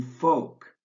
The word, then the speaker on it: folk: For example, remember to drop the B in plumber, the L in folk, the P in cupboard, the T in fasten, and the W in answer.